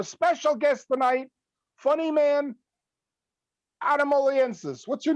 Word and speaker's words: Oliensis: we have a special guest tonight funnyman adam aliensis what's your name adam oliensis we practiced this before the show tom he pronounced it correctly which puts him ahead of